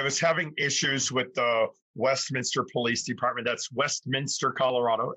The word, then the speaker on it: Westminster: So if you rewind a little bit, I was having issues with the Westminster Police Department. That's Westminster, Colorado. It's spelled Westminster. It's pronounced Waste Mobster.